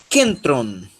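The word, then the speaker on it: κέντρον: Ó, nós temos agora capa, epsilon, ken, sílaba tônica, tron, kentron.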